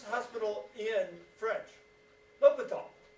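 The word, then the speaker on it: l'Hôpital: right a little bit tall how do you pronounce Hospital in French l'hopital let's talk about why we need l'hopital's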